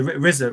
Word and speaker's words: RZA: RZA. Pronounced RZA.